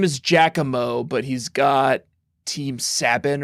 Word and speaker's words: Giacomo: It's Giacomo.